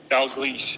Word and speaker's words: Dalgleish: Here's one of them, Professor Angus, I can't pronounce his last name. How do you say his last name, Nick? Dalgleish.